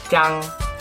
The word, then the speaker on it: 张: 혀 뒤로 제끼는 짱, 성조가 일성입니다.